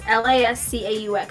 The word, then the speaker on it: Lascaux: looking up is the one I'm looking up is a special one in France, and I can't pronounce it, but it's Lascaux. So like a Q cave painting, 20,000 years old.